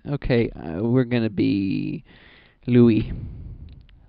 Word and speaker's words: Louis: Louis. Because it rhymes with gooey.